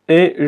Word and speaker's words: est: Y como sabes, la T aquí no se pronuncia. O sea que esta se pronuncia E como la E en español. La. Y de pronto la S no se pronuncia tampoco.